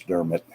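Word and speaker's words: Diarmaid: reading Dermot McCulloch is that's how you say his first name but it's spelled D I spelled differently than it sounds it's Derma that d-i-a-r-m-a-i-d sounds like Dr made but it's Dermot McCulloch May m a c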